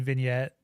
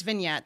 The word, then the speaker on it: vignette: Uh so there's a Friday 13 vignette, not vignet as Mike said or whatever. It's vignette. That's how you pronounce it.